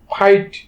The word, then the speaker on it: fight: উচ্চারণের নিয়ম অনুসারে যদি কোনো ওয়ার্ডের মধ্যে আই এর পরে জি এবং এইচ একসাথে থাকে তখন কি হয়, এই জি এবং এইচ সাইলেন্ট থাকবে এবং শুধুমাত্র আমরা আই এর উচ্চারণ করব।